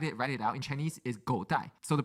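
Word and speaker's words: 狗带: So go dai they we write it write it out in Chinese is god dai. So the pronunciation of god dai means dog belt.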